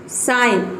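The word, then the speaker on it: sign: साइन, साइन means होता है संकेत, इसमें क्या है, जी के बाद एन आया है।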